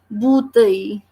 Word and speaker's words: bouteille: In this spelling in French we have BOU, and OU is pronounced as U. That is the reason we are pronouncing this word, this thing, as bouteille, because letter B is giving the sound of B, and with the combination of OU it is becoming boo.